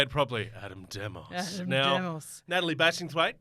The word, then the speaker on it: Adam Demos: Adam Demos.